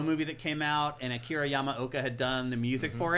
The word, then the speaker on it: Akira Yamaoka: Yeah, we went to it was a Silent Hill movie that came out, and Akira Yamaoka had done the music for it, and they